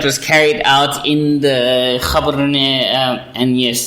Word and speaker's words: Gaborone: You mean the one that was carried out in the Gaborone, and yes, the actual pronunciation is Gaborone. Yes. But we don't mind if you say Gaborone or Gabs, because we're not fucking super sensitive.